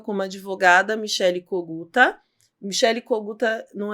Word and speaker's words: Kogúta: Michele Coguta não é difícil de achar. Coguta é o sobrenome do meu ex-marido, é ucraniano, né? Era Kogut, aí no Brasil virou Coguta, porque era mais fácil a pronúncia.